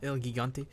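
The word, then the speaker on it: El Gigante: Elgigante, is it pronounced? Elgigante.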